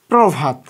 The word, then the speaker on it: প্রভাত: রাখার চেষ্টা করবা তাহলে পর সঙ্গে অ যুক্ত আছে সঙ্গে র ফেলা তাহলে অটার উচ্চারণ হবে ওর মত ও আমরা যুক্ত করে দিয়েছি